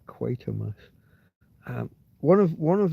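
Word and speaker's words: Quatermass: Quite a mass spelled like quarter mass, but with without the middle R, without the R in the in the middle. Quite a mass.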